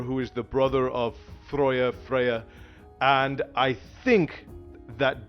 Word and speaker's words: Freyja: are my norse people it's pronounced freyja think that uh freya we find out that